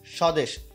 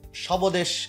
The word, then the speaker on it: স্বদেশ: বফলা কিন্তু উচ্চারণ হলো না। হ্যাঁ, অনেকে এটা যদি কেউ বলে যে শবদেশ, এরকম কিন্তু না, সবাস এরকম কিন্তু না, একদমই না। ঠিক আছে, এটা কি হচ্ছে মূলত, এটা হচ্ছে শ্বাস, বফলা উচ্চারণ কিন্তু এখানে হলো না।